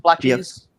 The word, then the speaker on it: BLKGs: Is this the correct pronunciation? BLKGs, Black G's. Some people say Black G's, but gotcha.